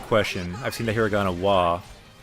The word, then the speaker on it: は: In that case, it's pronounced wa, like W-A. Yeah, good comment, Okamijin. Ha is normally ha, but becomes wa when it's used as a particle.